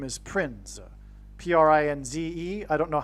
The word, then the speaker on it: Prinze: And that's why this actor's name is Prinze, P-R-I-N-Z-E. I don't know how you pronounce it. It could even in fact be pronounced as Prince. I don't know. But it definitely rhymes with Prince nonetheless.